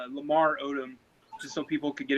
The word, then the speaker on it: Odom: Is it Autumn? No, it's Odom. Odom. Yeah. I'm sorry, man. No, it's all good. Everybody gets it wrong. So yeah, I always have to say Lamar Odom, just so people could get it right.